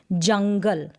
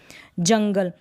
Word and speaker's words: जंगल: शब्द का उच्चारण होगा जैसे जंगल अंग की माता तो यहां पर रंग का साउंड आ रहा है जंगल तो मतलब यह जो